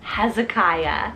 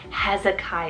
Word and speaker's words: Hezekiah: I've been crushing on recently is the name Hezekiah so h-e-z-e-k-i-a-h Hezekiah yeah now this particular Biblical name he was